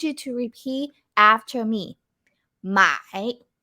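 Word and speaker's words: 买: to repeat after me my my okay so with the third tone here you have to go low so like this my my repeat after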